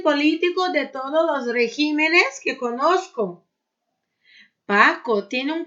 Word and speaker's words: regímenes: Régimen e regímenes. Muda. Caráter, caracteres. Então, ó, caráter, caracteres, né? Exemplos aí com essas duas palavrinhas. Aquel país tiene el mejor régimen político de todos los regímenes que conozco.